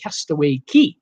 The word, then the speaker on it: Castaway Cay: also love Castaway Cay pronounced castaway key castaway okay alright see